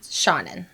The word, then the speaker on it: Seanan: I had to look up how to pronounce her name. It's Shaunen.